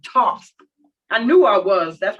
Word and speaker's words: Thoth: Thoth. I knew I was. That's why I kept going Thoth. It sounds weird. All right. Thoth is pronounced Thoth, also known as Tehuti, is the ancient Egyptian